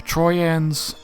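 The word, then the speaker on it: Trojans: ends and came to the reason why i'm pronouncing my j's as wise is is um that's how jays were pronounced back in old inc english and very commonly in other languages js or y's so that's why i'm putting as uh troy ends instead of troy jans and came to the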